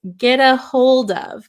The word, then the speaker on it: get a hold of: so when Americans pronounce get a hold of get a hold of maybe you notice this T sound sounds more like a D sound instead of so here